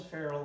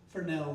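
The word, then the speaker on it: Fresnel: And they had to take it apart, polish the fereral lens for nail lens is the right way to say it, and then reassemble it, fuel it, and then hoist it back up.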